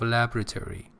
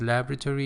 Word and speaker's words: laboratory: more shortened form of laboratory in American pronunciation it is laboratory in British pronunciation it